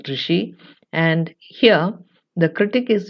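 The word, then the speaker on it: ṛṣi: This term is pronounced as rishi, though spelled as RSI, it is pronounced as rishi.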